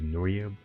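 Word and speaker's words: NoryB: So the way I pronounce my username is Nory. So N O R Y B is what it's spelled like even though my first name is spelled.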